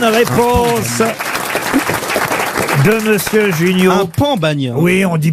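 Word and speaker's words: pan bagnat: On dit pas pain, on dit pan. Oui, mais on dit parfois pain bagna. Oui, parce que les gens qui sont pas de là-bas. Ah oui, mais ça s'écrit P-A-N.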